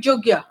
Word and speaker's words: Yogyakarta: Yogyakarta, actually, the original pronunciation, sometimes people call it Jogya. Sometimes we will call it Yogyakarta.